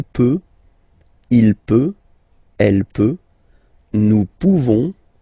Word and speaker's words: nous pouvons: Okay, nous pouvons. Nous pouvons. Okay, you don't pronounce the final S.